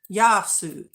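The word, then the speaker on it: Γειά σου: those bins and stuff saying hello say yasu pronounce it yasu this is a phrase best suited for informally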